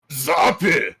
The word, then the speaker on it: Zappe: It's not Italian. It's German, specifically Bavarian. Yeah. I'm glad we got all that cleared up for him. Hey, there we go. So it's probably more like Zappe.